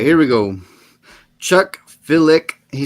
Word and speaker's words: Filick: Chuck Filick. He said it. You say it like feel it, so it'd be Filick.